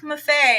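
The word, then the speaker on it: Maffei: say my name and I'd say just think because it was Muffet Cuisine I think it was I said just think of unique Buffet buffet and I screwed it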